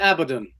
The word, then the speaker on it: Abaddon: I pronounce it Abaddon, but I believe some people in the UK pronounce it Carruthers.